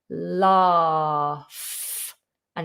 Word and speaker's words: laugh: If you're going for British RP or any southern variation of British accent, then we do a long vowel R. Laugh. And it's an F ending. Laugh, laugh. There are other versions, or there is another version. It's a northern version, which is also the same as a American version, and it's with a short vowel instead of a long R. It's with an A.